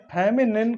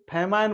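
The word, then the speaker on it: feminine: कई बार बच्चे इस फेमिनिन को फेमाइन बोल जाते हैं, जिसका मतलब दोस्तों अकाल होता है, और इसकी स्पेलिंग होती है ये, और इसके माने होता है अकाल। तो आपको ये बिल्कुल नहीं बोलना है, आपको फेमिनिन बोलना है।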